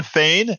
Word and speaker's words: Fain: It's same phonetically. Sinn Fein, but I said Shawn Fain.